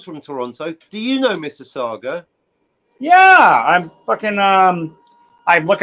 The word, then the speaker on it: Mississauga: Shout out Mississauga. Shout out Toronto. Really? And congratulations for pronouncing it correctly. His name Obama was up here once, and he was calling it Mississauga.